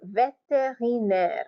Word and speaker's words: vétérinaire: Et V pour vétérinaire, vétérinaire. Remember what I told you about the accents. So you have a syllable here after the first accent. V, T, ri, naire, vétérinaire, vétérinaire.